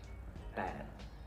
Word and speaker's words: แปด: So don't worry too much about it being like a B or a P. Just close your mouth and try and say it. Bad.